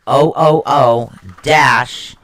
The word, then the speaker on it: Uruz: Now, the next one we're going to get into is actually pronounced it's Uros, and it's spelled Uruz, but it's pronounced OOO-ROOZ.